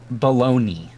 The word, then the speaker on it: bologna: prefers hamburgers bologna yes i love how bologna is spelled baloney um b-o-l-o-g-n-a yes baloney